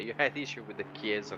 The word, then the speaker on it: Chiesa: I'm not going to pronounce his name wrong. Correct me, Davide Lozio. Yep, Davide Lozio. No. The Lamborghini. Chiesa.